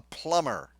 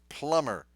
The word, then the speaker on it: plumber: so that's a a plumber plumber it has a bee in it but we don't pronounce the bee we just say plumber plumber okay all right okay